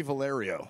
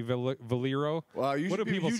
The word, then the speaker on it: Valerio: Valerio. I was going to say, I don't want to say Valero. Usually people say Valero because of the gas station, but it's Valerio.